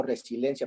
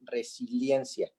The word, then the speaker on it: resiliencia: d de dicción porque yo pronuncio resilencia pero es resiliencia entonces la palabra y